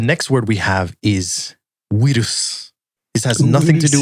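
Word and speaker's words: ウイルス: bu, they could say buirus was translated as we instead of bui to approximate the V sound at the time, because it was very hard for Japanese people during that time to be able to read that character. Like to phonetically make that sound. And so that led to its current form, which is wirus.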